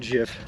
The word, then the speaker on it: GIF: better Jeff or Jeff it's Jeff the Creator says it is pronounced Jiff we're cresting buggers foreign